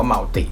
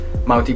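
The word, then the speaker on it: multi: ได้ ทั้ง สอง แบบ แต่ ถ้า มัน ทำ มา ลง ท้าย ไม่ เต็ม คำ เนี่ย ให้ เรา อ่าน ว่า มัลติ นะ ครับ เช่น มัลติ พลาย ที่ บอก ว่า กู นะ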